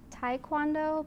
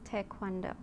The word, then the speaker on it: Taekwondo: And a lot of people pronounce it Taekwondo, but the appropriate pronunciation is Taekwondo.